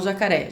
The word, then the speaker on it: jacaré: Você vai chamar o jacaré. Jacaré. Você vai chamar itu. Itu. Então são essas sílabas, as últimas sílabas, né? A última sílaba mais forte nessas duas palavras.